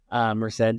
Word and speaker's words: Merced: Merced.